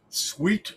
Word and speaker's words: Thweat: And it's spelled Thweat, Sweet, I will say it that way.